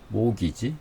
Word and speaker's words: mortgage: 그 다음 이 발음이 모기지.